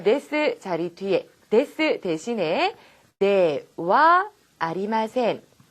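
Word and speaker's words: ではありません: 자, 지금 네 다음에 있는 글자도 원래는 하죠? 하지만 제가 뭐라고 읽었죠? 와라고 읽었죠? 자, 부정 표현 만들 때, 자, 요것도 네 하 아리마센이 아니라 네와 아리마센 이라고 하시면 됩니다. 아시겠죠?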